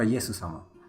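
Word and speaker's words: イエス様: Jesus John, Jesus Sama. No, Yesu-sama. That's how they say it.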